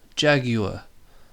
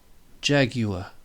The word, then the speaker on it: jaguar: the that other SIM the next symbol looks like an A and an e squished together ah ja and then the G is just a g Jag after the G we have what looks like a j remember that's the Y sound the U h jagu and then the U jagu and then it finishes with the schwa the uh Jaguar Jaguar you see once you